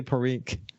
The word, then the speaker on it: Parikh: do I say it right when I say Parikh it's perfect yeah I just wanted to make